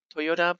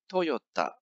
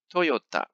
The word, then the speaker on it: Toyota: toyota properly in japanese in japanese it's actually toyota let me repeat again it's toyota so it's not toyota or toyota or i don't know so many different pronunciations out there about this but it's toyota anyway i will kind